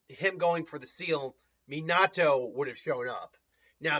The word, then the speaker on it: Minato: So I could even see Minato, it's Minato, not Minato. I'm vaguely mispronouncing it.